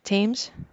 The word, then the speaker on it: Thames: How do you proper way to pronounce that, I think Amanda? it's a Thames.